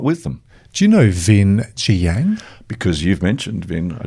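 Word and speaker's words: Vinh Giang: Do you know Vin Jiang?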